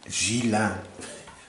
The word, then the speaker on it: Gilan: Gilan. None of this hard G.